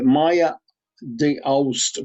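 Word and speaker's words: Maja D'Aoust: And this is by a Maya de Aust book. Her name is spelled Maja D, comma Aoust.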